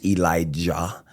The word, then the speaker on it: Elijah: Yeah, so the Hebrew pronunciation is Eliyahu. Beautiful. But English phonics, Elijah.